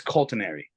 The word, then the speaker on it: Cultinary: And it's actually a mix of culinary, culture, and agriculture. So it's Cultinary.